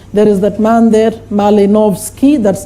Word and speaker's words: Malinowski: There is that man there, Malinowski, that's how you pronounce.